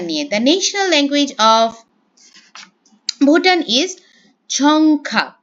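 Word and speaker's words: རྫོང་ཁ: National language of Bhutan ঝংখা। দেখলেও এটার উচ্চারণটা হবে জংখা। ঠিক আছে? ডিয়র উচ্চারণটা এখানে আসলে হবে না।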